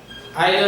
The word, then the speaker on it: either: We can also pronounce them either and neither.